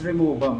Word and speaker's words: Rimowa: That's it sir What is the correct pronunciation? Rimowa or Rimova? It's Rimova ma'am Ok Ok guys That's what we have